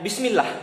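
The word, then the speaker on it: بسم الله: Kalau misalnya tipis itu kasroh itu yang ada di bawah dan dibacanya bukan Allah lagi tapi ilah. Kita contohnya kayak Bismillah ya.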